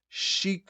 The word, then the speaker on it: Sheik: pronounce she H Sheik it's actually pronounced Sheik Al the guy on the YouTube video this that was that annoying pause was because when you look up how to pronounce something and then you go to YouTube you have to listen to ads and stuff but he was saying the funniest thing is it's like how to pronounce chicks you pronounce it chicks Al it's like basically